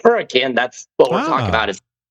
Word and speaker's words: Hurricane: spelled hurricane, but they pronounce it hurricane because it was originally founded by the Welsh. So if you hear people say hurricane, that's what we're talking about is Hurricane, Utah. We pronounce it hurricane.